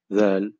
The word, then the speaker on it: ذ: Au niveau de la prononciation, en fait, on va placer le bout de sa langue entre les dents du haut et du bas, comme pour la lettre Fa, en fait. Et on va prononcer le mot Vel. Vel. Pour les personnes qui ont déjà pratiqué l'anglais, en fait, c'est pareil pour this, that, those, this, that, those, vel.